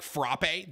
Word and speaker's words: frappe: ] bro is it it is pronounced frappe though okay so am i right okay even though it's not the coffee i'm it technically is like frappe that's how you say it did you guys know